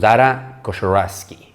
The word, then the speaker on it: Dara Khosrowshahi: Y esta es la historia de uno de sus altos ejecutivos, Dara Khosrowshahi, si no me equivoco, así se pronuncia.